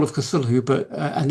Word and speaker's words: Cthulhu: of Cthulhu but and there's many arguments about how to pronounce it but I believe that Lovecraft originally meant the CT part sound and the hulu to be a se it's not th so the sound isn't supposed to be cthulu it's supposed